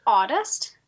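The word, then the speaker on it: audist: and the word is outest which i think is spelled a-u-d-i-s-t right would you mind sharing what that is what that means and yep so the term is pronounced oddest and essentially what it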